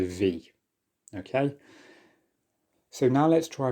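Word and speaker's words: В: By now you've probably gathered that this is not the letter B. Instead, this is the Russian letter V. V. So essentially this is the letter V.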